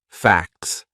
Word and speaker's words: facts: facts F A CS so that would be a silent T it's in between a c and an S two consonant sounds facts and it sounds exactly the same as FX FX then we have something